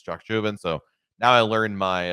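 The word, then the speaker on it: Chacchoben: and by the way up until today I've been mispronouncing it I called it choco Ben it's not correct it's Chuck juven so now I learned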